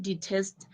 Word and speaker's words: detest: As you can see, the word detest, it's only tests that has the stress.